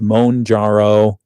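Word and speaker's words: Mounjaro: There's Mjaro, which is actually pronounced Monjaro.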